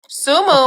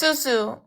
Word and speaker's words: Susu: Sumu, my name is Suzu. You said it right the first time.